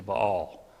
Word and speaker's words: Baal: them offering things to ball or Baal however you want to pronounce it um they forgot God